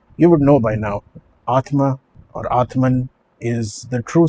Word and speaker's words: Atman: and the statement is Atman is Brahman. Atman is Brahman. The correct pronunciation really is Atma is Brahma.